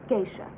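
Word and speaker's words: geisha: nights are warm and it's pronounced gisha you wish taxi sir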